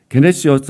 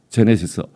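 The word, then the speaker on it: γένεσις: 단어가 요렇게 써 볼게요 이 헬라어로 여러분들이 그냥 게네시스 게네시스 어디서 많이 보던 단어 아니에요요 개라는 지라는 단어를 발음을 기억으로 해도 되고 자 지로 하면 뭐가 돼요 여분 차 뭐 있어요 제네시스 우리 친구 그 주일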